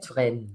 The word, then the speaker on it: Touraine: Have I pronounced that correctly? Touraine.